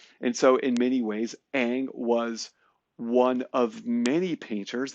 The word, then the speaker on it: Ingres: Jean a goosed dominique egg egg is spelled ingr es and so you know if you're if you're not a French speaker you might think it's ingres but it's actually a and this was done